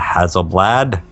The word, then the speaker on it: Hasselblad: The Hasselblad, and I'm saying that how it's spelt, folks.